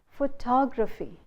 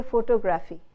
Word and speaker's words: photography: But when we say the art of taking photographs, we say photography. We don't say photography.